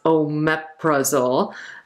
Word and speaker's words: omeprazole: So praise, it's not pronounced that way. It's pronounced omeprazole, but it kind of looks like omeprazole.